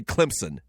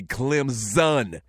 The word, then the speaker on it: Clemson: Carolina we don't say Clemson we say Clemson like with a z so there you have